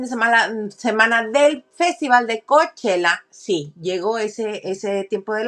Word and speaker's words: Coachella: Se pronuncia Coachella.